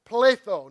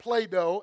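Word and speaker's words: πλήθω: It means, it's pronounced pletho, not pleido.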